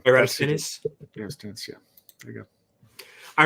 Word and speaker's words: Eratosthenes: I can't pronounce the name. Eratosthenes? Eratosthenes, yeah.